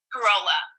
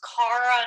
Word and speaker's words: Corolla: share something with you how do you pronounce your name again corolla corolla okay because there's i have i know one from canada she likes to be pronounced cara another one cara corolla okay i just want to make sure i'm pronouncing correctly what corolla's having right